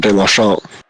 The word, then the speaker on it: Deslongchamps: Great punt there from De La Champ. Is that how it's pronounced right there? It is. It's French.